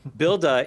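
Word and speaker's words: Buildah: in their case builder it's a like the boston way to say builder um builda is the tool that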